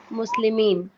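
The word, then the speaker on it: مسلمون: मुस्लिमुन मुस्लिमान मुस्लिमीन मुस्लिमीन। Mean नहीं मुस्लिमानी करना है। मुस्लिमुन मतलब। ऐसा एलोंगेट नहीं करना है आन इन।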